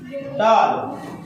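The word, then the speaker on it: doll: और यहाँ पर सिंगल एल का उच्चारण हो रहा है और एक एल साइलेंट हो गया, हुआ नहीं हुआ?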